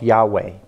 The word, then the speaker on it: Yahweh: Hebrew but some form it's a two syllable name of some form of Yahweh mmm is is how it would be pronounced and I think you